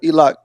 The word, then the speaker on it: Elock: That's how you say his name, Elock.